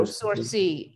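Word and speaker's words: sourcils: No, Sourcy.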